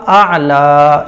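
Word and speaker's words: الأعلى: है रब्ब यल रब्ब अल समझ रहे ना आप हजरात सुभाना रब्बिल आला आला सुभान रब्बिल रब्बिल इस तरीके से होगा रब नहीं होगा रब्बिल फिर अला नहीं होगा आला इस तरह से ठीक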